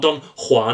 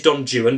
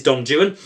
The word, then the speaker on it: Don Juan: is Don Jan folks it's not Don Juan it is Donan because the rhyming schemes in the opening uh stanas um would render it uh uh uh impossible to read if you pronounced it Don Juan it wouldn't rhyme so it is Don Jan um the problems in